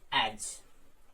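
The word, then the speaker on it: edge: जैसे एज, तो इसमें डी साइलेंट हो गया आपका।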